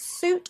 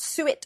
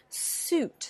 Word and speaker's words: suit: extra one here suit it's suit not suet or sweet suit so fruit and suit